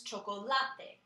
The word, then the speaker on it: chocolate: chocolate in English but in Spanish we emphasize that last part of it so the word becomes chocolate the pronunciation is more